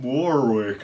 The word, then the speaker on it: Warwick: Brian May, Gary Barlow, Cilla Black, Petula Clark, Anne Murray, and he did one with Dionne Warwick. Or Dionne Warwick, as the Americans say.